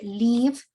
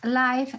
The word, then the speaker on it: live: Johnny, don't forget the pronunciation of the word live. Si decimos life, sería la vida, ¿no? Live sería vivir. I want to live.